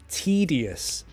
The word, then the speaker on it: tedious: for this so it's tedious pronunciation T tedious not Teddy Asst T tedious that's tedious everything takes